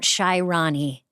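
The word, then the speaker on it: Shy Ronnie: Um, and I guess for uh, this Polar Plunge, I just wanted to remind you to check out Shyroni again.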